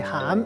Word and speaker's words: 涵: 今仔日要甲大家小解这字，咱做伙来看到这字就是含，内含的含，涵养的涵，这是文音，鼻音读作含。